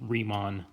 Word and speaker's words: Riemann: And that is the correct pronunciation, as far as I know, for this is Riemann.